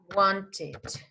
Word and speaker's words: wanted: Si el último sonido es T o es D, se va a pronunciar el final. Entonces en at vamos a decir added. Need, vamos a decir needed. Are you following me? Want, you are going to say wanted, wanted.